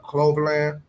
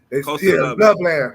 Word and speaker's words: Loveland: Make sure I pronounce it right. Coverland, the tight end. Colson. Colson Loveland. Loveland.